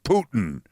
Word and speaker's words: Putin: Eight pages of things like how to pronounce the name Putin. P O T I H N. Just think poo.